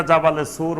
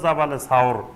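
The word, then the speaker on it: جبل ثور: নিছিলেন পাহাড়ে সাওর পাহাড়ের এখন যেটা জাবালে সুর বলে জাবালে নূর আর জাবালে সুর এই জাবালে সুর বা এটা শুদ্ধ উচ্চারণ হলো জাবালে সাওর এই সাওর পাহাড়ের গুহায়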